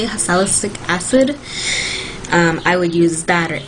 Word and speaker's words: salicylic acid: has salicylic acid, that's how you say it, salicylic acid, I would use that, or any acne treatment